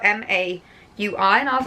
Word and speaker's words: Maui: Now this is a company that I couldn't pronounce for so long because it's spelled M-A-U-I and I was like, is that Maui? But it's Maui, like Moana.